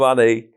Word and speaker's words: Annie: And this stranger comes up to me and says, "Hi, I'm Annie. It rhymes with Fanny.